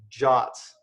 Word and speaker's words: JWT: club we're gonna use a token system called jots the most confusing thing about jots is how their spell shot is spelled JWT I didn't come up with it